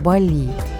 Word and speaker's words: Bali: Кстати, не удивляйтесь, что я называю остров Бали. Таксист нам сказал, что местные называют его именно с ударением на последний слог, так что из уважения к балийцам буду произносить именно так.